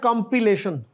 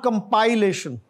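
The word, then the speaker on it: compilation: और यह आगे क्या कंपिलेशन नॉट कंपाइलेशन कंपिलेशन जैसे क किताब कंपाइल करते हैं और आगे है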